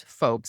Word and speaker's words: Foulkes: And my last name is folks.